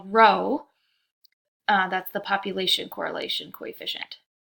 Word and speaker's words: rho: This is the Greek letter rho. Okay, so even though it's spelled weird, you pronounce it like row, like what row your seat is in, that sort of thing.